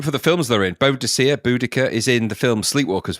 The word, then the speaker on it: Boudica: Boudica, I guess is how you say it nowadays. Boadicea in old language when we were at school.